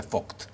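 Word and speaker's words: Vogt: alemán el doctor vct se dice pronuncia fooc lo conoces fooc Bueno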